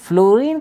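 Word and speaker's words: fluorine: आर आई एन बट फ्लोरीन का जो pronounce है एफ एल यूओ आर आई एन है फ्लूरीन लेकिन हम लोग सिंबलाइज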